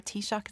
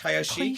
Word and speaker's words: Taoiseach: It's Taoiseach? Taoiseach, I believe. It's like an Arab sheikh, He's but our- it's the Tao sheikh, He's our president, essentially.